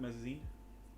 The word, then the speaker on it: mezzanine: Well, that's all there is to see of the mezzanine.